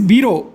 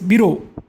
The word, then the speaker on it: bureau: Now this is bureau. Okay. U is silent. B U is silent. B R E A U is bureau, and his clock.